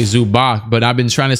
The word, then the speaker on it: Zubac: kawhi pg hello zubox i know his name is pronounced zubots like azubats but like it sounds trash so i like to say zubach but i've been trying